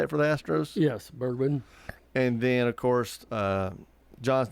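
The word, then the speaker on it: Bregman: Yes, Bergman.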